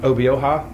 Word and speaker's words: Obioha: How do you say Obio? Obioha? You're very good.